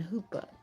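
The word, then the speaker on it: chuppah: And the theme is covenant, courage, calling, and hoopa. And in case you don't know what the hoopa is, it is spelled c hu p a h.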